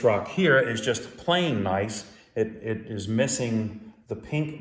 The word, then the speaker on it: gneiss: This first one is granite gneiss, and that is spelled Gneiss, but pronounced like have a nice day.